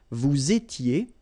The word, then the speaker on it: vous étiez: S not pronounced, remember, vous étiez, same thing here, little liaison, and then ils étaient, liaison as well, elles étaient, all right?